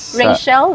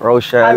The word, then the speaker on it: Rochelle: So maraming salamat po sa mga sumusuporta kay Roel of Malalag at saka yung team Rachel, did I pronounce it right? Rochelle Community. Yes, Rochelle Community.